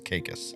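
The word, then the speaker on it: Caicos: How did they say it? Uh, Kikus. Kaikus. Turks and Cus if you were local. That's how they say it. I'm not making fun. That's how they say it. It's Kikus.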